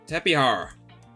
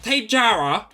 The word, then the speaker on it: Tapejara: Tapihara, as it's actually said. Because it's not Tapejara. I hate people who say Tapejara. It's like you're saying Jose, even though it's spelled Jose. The Jara is Hara.